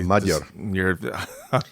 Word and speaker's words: Magyar: It's actually pronounced Magyar. Oh, see, Magyar. G. I had to learn this because I don't speak Hungarian, but GY in Hungarian is not Gya, it's J.